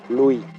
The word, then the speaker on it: Louis: da vida a luz no pronunciamos la s de su nombre en francés louis así lo llaman en